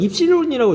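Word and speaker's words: ε: 똑같은 그리스어 중에 하나일뿐입니다 이걸 입실론이라고 읽는데 중요하진 않아요 우리는 입실론이라고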